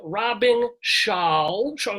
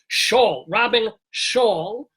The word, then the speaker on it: Robyn Schall: By the way, we're talking with ROBYN SCHALL. No, I pronounced it wrong there. ROBYN SCHALL.